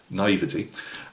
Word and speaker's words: naivety: Now, again, coming back into modelling, my naivete, I believe that's how you say it, or if you're around here, naivety.